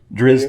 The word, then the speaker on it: Drizzt: So I'm not sure I pronounced that correctly, but... Drizzt, yeah.